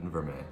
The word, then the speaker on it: vermeil: It's spelled vermeil, but vermeil, that's how you pronounce it.